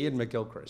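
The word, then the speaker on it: Iain McGilchrist: in wonder quoting psychiatrist Yan mik Gilchrist I pronouncing Yan M Gilchrist yes he claims that the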